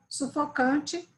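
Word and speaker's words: suffoquant: O adjetivo é sufocant, sufocante, C-A-N-T, que não se confunde com sufocant, que é o particípio presente, que se escreve Q-U-A-N-T e se pronuncia exatamente da mesma maneira.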